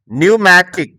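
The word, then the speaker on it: pneumatic: তুমি যদি লক্ষ্য করো, এখানে প্রত্যেকটা শব্দের প্রথমে পি থাকলেও পরে এন, কোনো কোনো শব্দে এস থাকার কারণে পি এর উচ্চারণ কিন্তু হয়নি, অর্থাৎ পি এর উচ্চারণ সাইলেন্ট রয়েছে। তো তোমরা যখন ইংরেজি পড়বে তখন এই পি এর পরে যখন এন অথবা এস দেখবে তখন তোমরা এই পি এর উচ্চারণ করবে না।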